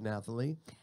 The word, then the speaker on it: Nathalie: Tell us about your job, Nathalie. Yes. So number one, my name is Nathalie. Nathalie. Thank you. The Nathalie. H is silent.